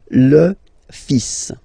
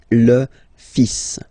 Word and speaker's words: fils: So it's le, and then even if you've got this L, well, basically you don't pronounce it, and then strangely you pronounce the final S. Le fils. Le fils.